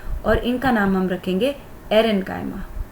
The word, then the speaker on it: aerenchyma: यस, इनका नाम change करेंगे और इनका नाम हम रखेंगे एरेन्काइमा। एयर वर्ड से आएगा, बट be careful, spelling air में AIR वाली नहीं है, इट इज़ एरेन्काइमा।